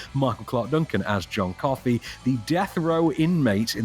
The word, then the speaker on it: Coffey: just what led John Coffey to be in that cell. Your name is John Coffey? Yes, sir, boss. Like to drink, only not spelled the same.